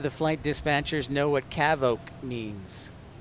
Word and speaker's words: CAVOK: day would probably be um let's go with cavok the word of the day is cavok as